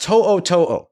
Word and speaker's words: To'o: Alabama's Henry, it's pronounced To'o. T-O''O, T-O''O.